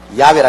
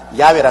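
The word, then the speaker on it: 야훼: 지어 성취하는 야 하나님이신데 야외라 해도 좋고 여호와라 해도 좋습니다 그러나 야외라 말이 더 정확한 발음입니다 이런 하나님께서 시작하셔서 하나님께서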